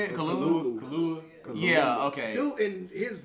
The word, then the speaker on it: Kaluuya: I can't pronounce his last is name. it like yeah, he was talking. How you say it? Kaluuya.